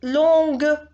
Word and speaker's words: longue: Long avec un G parce que au féminin, vous dites longue. Donc, on prononce le G au féminin.